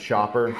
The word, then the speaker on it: Schaper: My last name is pronounced Schaper, like going shopping.